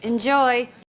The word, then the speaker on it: enjoy: go there you go enjoy enjoy enjoy second syllable stress enjoy enjoy enjoy enjoy